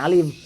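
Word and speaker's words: عالم: Alam itu bukan alim, jangan salah baca. Kalau alim orang yang berilmu. Kalau alam adalah selain Allah. Alam itu ada gunung, ada manusia, ada hewan. Pokoknya selain Allah namanya alam.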